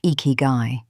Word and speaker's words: ikigai: The word is ikigai, pronounced ikigai, and it is most commonly translated as reason for being or reason to get up in the morning.